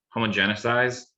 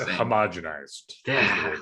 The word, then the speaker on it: homogenized: to mispronounce this word homogeneous eyes sorry that's terrible it all feels no it's homogenized see i've read it